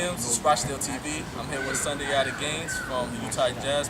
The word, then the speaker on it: Sundiata: SUNDIATA Gaines. Did I say it right? SUNDIATA Gaines, yeah.